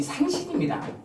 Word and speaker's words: 산신: 그 얘기를 할 때 쓰는 삼신 아닙니다. 얘기를 할 때 나오는 거 할머니는 삼신이 아니라 우리 많은 사람들이 잘못 알고 있어요. 얘기를 낳으니까 날산자를 쓰죠. 그래서 그때 쓰는 건 이 산신입니다. 우리가 발음을 잘못해서 그래요.